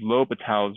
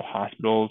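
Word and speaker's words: L'Hôpital: we're going to use low Patel's rule you know oh hospitals kind of how it's spelled no hospitals low fatalities rule so what that means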